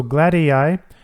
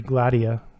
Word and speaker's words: Gladia: like it's incredible so glad AI I think that's how you pronounce it it might be gladia I call it glad